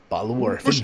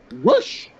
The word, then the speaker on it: Rush: Roosh doesn't have an accent over it. The show should be Rush. There's no accent. I can ask a Hispanic right now, hey, how do you say Rush? They will say Rush. They're not going to be like, oh, yeah, way instead of Rush. They're going to say Rush.